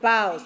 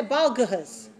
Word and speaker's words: boughs: Now notice that there are some silent letters in the word boughs. What are the silent letters? What letters are silent in the word boughs?